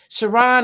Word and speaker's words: Cheron: If you follow her on her LinkedIn page, Sharon is spelled Cheron.